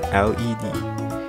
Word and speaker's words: led: in the upcoming movie lead as in LED it is the past tense form of the verb lead it rymes with a word bed or said example sentences he led